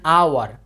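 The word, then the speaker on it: hour: উচ্চারণ যদি না হয় অর্থাৎ এইচটা যদি সাইলেন্ট থাকে তাহলে তার পূর্বে বসবে যে এন, যেমন মনে করো যে অ্যান আওয়ার, অ্যান আওয়ার, বা মনে করো যে অ্যান অনেস্ট ম্যান, ঠিক আছে।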